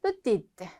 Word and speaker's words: petite: 자, 요거 발음 안 되죠? 끝에 petit. 근데 을 붙여주니까 petite 발음이 되죠. 마찬가지 요것도 뭐 그랜드 오픈 이런 거 많이 보셨죠? 큰이라는 의미인데 사람한테는 키가 큰 grand 발음 안 되고 있죠? 여성은 grande 발음이 된다.